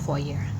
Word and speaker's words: Fourier: Kalau penulisannya Fourier tapi bacanya itu Fourier.